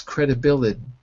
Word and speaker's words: credibility: in my accent it's credibility D the T softens to a d so if you're going for an American accent credibility credibility okay now